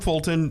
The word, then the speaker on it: Fulton: Well, Fulton people are people too. He did. Contrary to popular belief. He pronounced the T in Fulton.